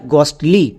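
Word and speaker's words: ghostly: এস টি এল ওয়াই গস্টলি সো আমরা যদি শব্দের শুরুতে জিএইচ দেখতে পাই তার জন্য গো করে দেব এবার আমরা দেখে নেব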